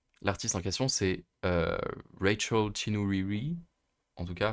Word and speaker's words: Chinouriri: Mais en tout cas, elle parlait d'amour, l'artiste en question, c'est Rachel Chinouriri, en tout cas, enfin Rachel Chinouriri, du coup, en prononcé en français.